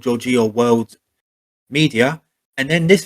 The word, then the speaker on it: Giorgio: It's Giorgio, like George with an O at the end. So Giorgio. Giorgio.